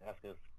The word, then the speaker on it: Asuka: Okay, first off, the U is silent. It's just Asuka.